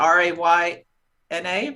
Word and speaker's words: Rayna: How do you spell that? Is that R-A-Y-N-A, Raina?